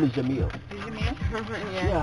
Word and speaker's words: Jamil: His name is Jamil.